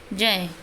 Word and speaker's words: ज्ञ: अब हम इसको क्या बोलते हैं? गए, ग का उच्चारण करते हैं, सभी हम गलत ही बोलते हैं। तो ज्ञान, लेकिन इसका शुद्ध उच्चारण क्या होगा? जय। ज और अय, अय पंचमाक्षर है हमारा ये, इससे ज और य से मिलकर बना है ये जय।